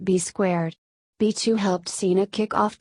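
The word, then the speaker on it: B²: Eventually, Cena was joined by an enforcer, Bull Buchanan, who was rechristened B2, also written B squared and pronounced B squared.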